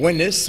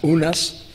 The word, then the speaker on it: Unas: It may correspond to the name Winis, or usually pronounced Unas, by those who transliterate it from the Egyptian.